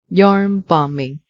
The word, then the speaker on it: yarn bombing: Yarn bombing. Pay attention. The letter B in this word is silent.